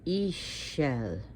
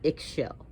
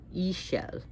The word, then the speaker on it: Ixchel: i know it's spelled i-x-c-h-e-l but but it's pronounced e shell not eggshell e shell lady rainbow so we see with the moon